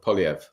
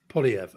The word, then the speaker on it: Poilievre: He doesn't use the h. So Poilievre. Poilievre.